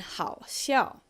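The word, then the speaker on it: 好笑: Okay, and 好笑. Third tone, fourth tone, 好笑.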